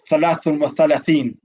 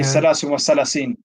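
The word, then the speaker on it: ثلاثون وثلاثين: So 33, we say thalathun wa thalathin. But because he would do the same thing, he would pronounce the tha as a scene. He would say salasun wa salasin.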